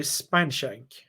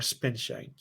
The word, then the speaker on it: Spineshank: Yeah, my first one would be Spineshank or Spinshank, depending how you pronounce them.